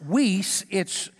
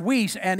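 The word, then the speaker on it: υἱός: but then there is a another word that's pronounced whis it's spelt h-o-i-s-e but it's pronounced whis and it is that word means a mature son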